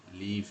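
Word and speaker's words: live: multiple choice high speed লিভ typing exercise high speed লাইভ আমি বলেছিলাম যখন এটা এটা যখন আপনার ভার্ব হিসেবে হয় তখন এটা আপনার উচ্চারণ হবে লিভ আর যখন আর যেটা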